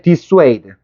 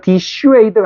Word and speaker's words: dissuade: 그다음에 this this dis 아이고 discourage discourage 그다음에 dissuade 이거 disuade가 아니고 disu 이렇게 발음해야 돼.